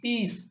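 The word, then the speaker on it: piece: देखो एग्जांपल है पी आई ई सी ई पीस। पीस में जो देखो लॉन्ग ई लॉन्ग ई का साउंड निकल रहा है।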